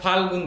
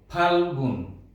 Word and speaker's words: ফাল্গুন: অনেকে আমরা ফাল্গুন বলি, ঠোঁট হা করে বলি, না, এটি ওষ্ঠধ্বনি, সেজন্য আমরা এভাবে ঠোঁট যুক্ত করব, ফাল্গুন, ফাল্গুন। এখানে প্রথমে লয়ের উচ্চারণ হবে, এরপরে গয়ের উচ্চারণ হবে।